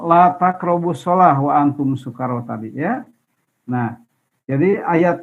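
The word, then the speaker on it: سكارى: Nah, ini bacanya sukaro dengan sin yang tipis ya, bukan dengan syukaro. Kalau syukaro artinya syukur, kalau sukaro mabok, begitu.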